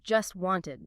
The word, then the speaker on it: just wanted: In just wanted, the source notes that the t sound, well, both zero sounds actually. Both of them. Yeah. The one in just and the one in wanted. They often aren't really pronounced fully or sometimes at all in faster speech.